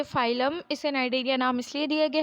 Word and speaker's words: Cnidaria: Phylum नाइडेरिया, इसे नाइडेरिया पढ़ते हैं, सी इसमें साइलेंट होता है।